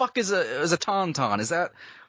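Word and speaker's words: tauntaun: all right so okay according to Wikipedia tonon pronounced Tonton were a species of non-sentient lizards native to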